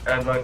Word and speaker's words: Adlai: Adlai Mestre. Adelaide? Adelaide? Okay, and how do you spell it?